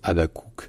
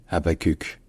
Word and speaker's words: Habaquq: Donc dites Habakkuk si vous voulez, ce sera sans doute un peu plus proche de l'origine que de dire simplement Habakkuk.